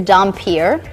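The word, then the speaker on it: dhampir: do it correctly so this right here is dompier this is the type of vampire that I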